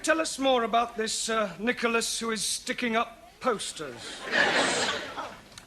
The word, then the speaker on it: Nicholas: It's pronounced Nicholas. It's all right. Once upon a time, there was a man called Nicholas. He was a postman.